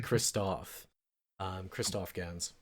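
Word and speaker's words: Christophe Gans: it's that the director, and I believe I've mispronounced his name several times, it's actually Christoph Gans.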